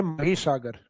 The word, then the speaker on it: महीसागर: हालांकि English title तो वो माही लगता है अपने को क्योंकि स्पेलिंग वही है माही लेकिन उसका हिंदी प्रोनाउंसिएशन लिया गया है महीसागर। तो अपने को महीसागर ही याद रखना है।